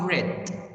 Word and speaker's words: read: is same so in the past form i pronounce it different i say i read i read my book yesterday i read my book yesterday so rich here is like